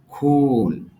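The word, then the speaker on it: cool: যেহেতু কলন চিহ্ন আছে এইজন্য একটু টান দিতে হবে।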